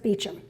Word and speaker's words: Beauchamp: And for those of you who are new to the group or new to Baldwinsville, it looks like Beauchamp, like the French version, but it's actually pronounced Beauchamp.